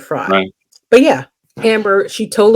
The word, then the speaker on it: Frey: name Amber fry fre I think it's fry I think she pronounces it fry but yeah Amber she